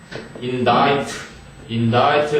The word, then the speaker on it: indict: 그리고 뭐 이건 잘 읽어야 되는데 이게 묵음이에요. indict A for B.